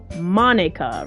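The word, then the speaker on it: Monika: I say right Monica it's spelled weird but it's basically pronounced Monica right because e i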